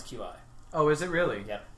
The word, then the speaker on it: Qi: through the FCC it's going to beqi um which is actually how you pronounce Qi oh is it really